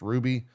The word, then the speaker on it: RWBY: think show called uh I think it's pronounced Ruby which is like their anime um and then also a uh R WBY or whatever right RWBY yeah